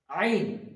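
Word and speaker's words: عين: তারপরে এখানে আছে আইন হা, প্রথমেই বলেছে হা উচ্চারণ করার সময় একটা হা বেরোবে, বাতাস বেরোবে, এবং আইনটা বের করার সময় আমাদেরকে কণ্ঠনালীর এই মাঝখান হইতে উচ্চারিত করতে হবে আইন।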